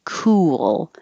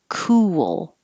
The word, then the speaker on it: cool: when you say ku your lips need to round and then you come back for the l so they kind of slide cool cool but you don't have to make it two perfect syllables cool cool and i'm